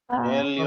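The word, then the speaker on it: עליון: Elyon. Pronounce Elyon.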